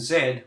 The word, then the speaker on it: Z: the letters q and Zed or Z as it's pronounced in the USA do not appear on